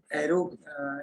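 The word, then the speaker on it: array: वो है आपका एरो, एरे को यूज करना। जानते हैं एरे क्या चीज होती है? इसका प्रोनाउंसिएशन अरे भी बोलते हैं, अरे भी प्रोग्रामिंग किया होगा जिन्होंने भी थोड़ा बहुत पता होगा।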